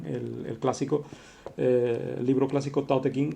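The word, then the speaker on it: Tao Te Ching: clásico eh libro clásico ta King se pronuncia da de jin eh vamos con mi mala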